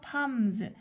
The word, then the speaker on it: palms: 팜s 그래서 여기 팜은 발음할 때 L이 묵음이기 때문에 그냥 s라고 읽어 주면 되고요.